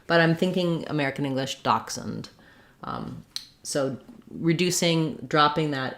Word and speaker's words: dachshund: We can say dachshund with just n. Dachshund, in German it's dachshund. In American English, dachshund. We don't really use a vowel there, or dachshund.